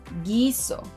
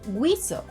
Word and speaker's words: guiso: In these cases, letters q and g silence letter u, but they need it to make those k and g sounds in front of letters e and i. If letter u were pronounced in these words, they would sound like qüeso, qüiero, güerra, and güiso. But those are words that don’t exist in Spanish.